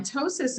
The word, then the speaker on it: ptosis: next one down is ptosis that p is silent on ptosis is for a droopy